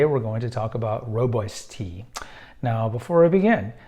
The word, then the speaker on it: Rooibos: So Rooibos tea is commonly, you look at it phonetically, it looks like it should be Rooibos, but it's Rooibos.